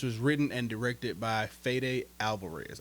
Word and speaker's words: Fede: written and directed by fed Alvarez I think his name is pronounced fed but before we get